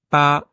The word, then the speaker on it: 八: Voilà, donc attention de ne pas confondre encore une fois. Hein. Ti et Ouais. ti. Premier ton, chi. 4e ton, chi. Maintenant, 8. Pas.